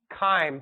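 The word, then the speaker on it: chyme: it hits the stomach time very good that is CH but it sounds like a k all right we have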